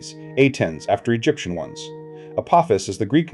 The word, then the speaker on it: Apophis: The mythological creature takes the accent on the first syllable, the asteroid on the second.